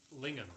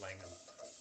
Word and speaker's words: Lingham: My ideal is to not pay over a quarter of my income on rent, but Lingham. Somebody said Lingham. I think I mispronounced it as Langham or misread it or something.